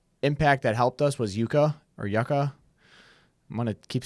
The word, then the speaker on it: Yuka: had y after it Yuka Yuka you're right Yuka yeah not Yucca sorry Yuka that yeah